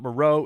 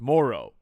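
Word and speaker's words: Moreau: we learned that we've been saying that guy's name wrong apparently it's it's it's not Monroe it's Moro which hey we strive we strive here to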